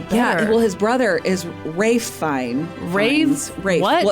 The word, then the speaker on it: Ralph: well his brother is Rafe fine well it's Ralph but it's pronounced Rafe well that's complicated it's